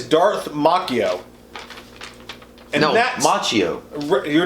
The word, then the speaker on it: Macchio: Ralph Macchio he said pronounce Macchio like The Karate Kid actor not makio or Macchio like I drink from Starbucks so wait dude you